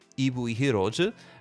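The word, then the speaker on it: 이브이 히어로즈: box of eevee heroes or ibuyhiroji as it's pronounced in korean and with the help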